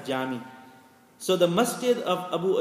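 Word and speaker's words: cami: but it is called it is it is pronounced pronounced as jami so the masjid of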